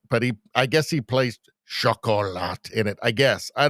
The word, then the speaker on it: Chocolat: Chocolat. We did the They Them Energy. Rosie demands we do chocolate after that. Here we go. Chocolat. That's how you say it in France.